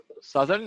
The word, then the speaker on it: southern: It's not pronounced like that. Northern. Southern. No. You're not listening to me. It's called southern. Southern. Yes. Okay. So we have northern, northern, and we have southern. Southern. There's no ow.